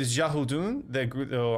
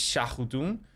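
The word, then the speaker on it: Xiahou Dun: He does start with Shahudun. I'm sure I've completely wrecked that. It's Shahudun. So X is usually pronounced as like an S.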